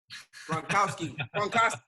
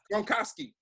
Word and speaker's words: Gronkowski: Gronkowski. Gronkowski, right?